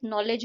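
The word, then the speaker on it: knowledge: जैसे कि knife, नॉलेज और नो में जो है के साइलेंट है।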